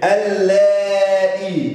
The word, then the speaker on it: اللائي: وايه اللائي اللي احنا هنقولها بقى؟ اللائي واللاتي، دي برضو فيها كلمات حرف اللام هنا هينطق ولكن لا يكتب.